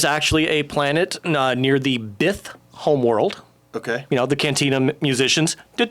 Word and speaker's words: Bith: It rhymes with Sith, but with a B. What, is Zuckuss one? We were talking about Zuckuss earlier. Zuckuss. Yeah, no, okay. It's not Forlorn. Bith.